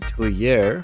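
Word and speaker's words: tuyère: to pump oxygen in the toy air which is actually how it's pronounced. I think it's French is then used to supercharge the oxygen intake.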